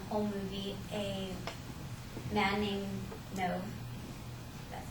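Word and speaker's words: Nev: Um, pretty much in that um whole movie, a man named Nove, that's how you pronounce his name, he falls in love with a fake icon, and he starts talking to her through Facebook.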